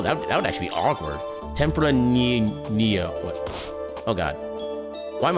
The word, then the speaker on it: Tempranillo: So Tempranillo would be the proper way to pronounce it when I'm actually prepared to say it the right way. Tempranillo.